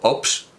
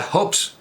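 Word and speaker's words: Hobbes: este Ops y era hobes era hobes pero no pronuncian la H también dicen Sherlock Holmes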